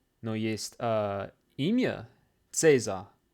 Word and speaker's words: Cäsar: Иногда она произносится как К и иногда как Ц. Например, есть слово компьютер, и оно пишется с буквой Ц, но произносится как К. Но есть имя Цезарь. Цезарь.